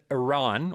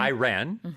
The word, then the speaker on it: Iran: Of course, Israel and Iran, or Iran, you can pronounce it both ways, are fighting.